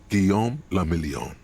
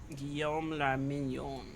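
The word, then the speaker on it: Guillaume Le Million: Guillaume la Million. If it doesn't rhyme, you're not pronouncing it right. Guillaume la Mignon.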